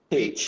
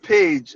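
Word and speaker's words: Pécs: University of Pecs. P what? P-A? No, P-E-C-S. P-E-C-S. I would have said Pecs. So yeah, exactly. The pronunciation is quite different. So yeah, University of Page.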